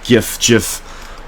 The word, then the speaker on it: GIF: Attention, it's pronounced GIF.